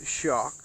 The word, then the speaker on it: Shauk: the eyes here but i believe you pronounced that shock and it said it